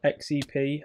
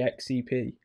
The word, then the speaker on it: Xep: going to pronounce it, even though it's XEP. I just feel like it should be pronounced Zep. And I think he said people do say that, so he doesn't mind.